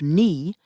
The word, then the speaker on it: knee: For example, the k and the w at the beginning of knee and right were lost.